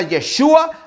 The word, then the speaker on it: Yeshua: Dios manifestado en carne, que su nombre se pronuncia Yeshua. Algunos se están peleando, no, se pelean y dicen no es Yeshua, es Yahshua, con ya, no es Ye, y están peleándose.